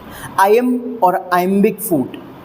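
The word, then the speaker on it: iamb: आई एम बिक फूट आई एम अब इसका प्रोनंसिएशन भी ध्यान रखिएगा भाई आई एम आई एम बोला जाता है इसे आई एम पीछे जो ब है ब की साउंड वो साइलेंट होती है यहां पर है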